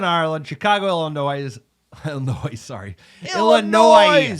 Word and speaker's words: Illinois: Chicago Illinois Illinois sorry Illinois s is silent you have to go